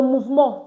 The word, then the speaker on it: mouvement: ends with MENT, and we said MENT is pronounced as mo, not meant, like in English. So in English, this will tell you moment, but in French is moment, le moment.